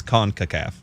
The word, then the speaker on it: CONCACAF: heard somebody else say it no it's it's concacaf okay you say that with authority but we